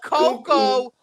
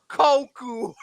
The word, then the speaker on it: Coco: And this led to one of the most notorious mispronunciations where he called Coco Koku.